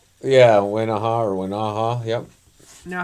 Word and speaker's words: Wenaha: Now, without spoiling too much of the books in your Wenaha Henry children's book series, did I pronounce the name of that series correctly? Yeah, Wenaha, yep.